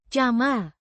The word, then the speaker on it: camar: Jama means seagull pronounced jama with the j as in chat and a short ma like in market.